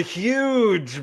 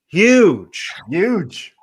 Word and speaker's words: Huyghe: The huge brewery in Belgium. That's how it's pronounced. Family Brewery HUYGHE. Huge. I'm going Yug.